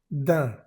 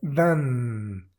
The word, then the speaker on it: d'un: Entonces, con una D antes, simplemente se dice da. Y no es dan. No pronunciamos esa N nunca.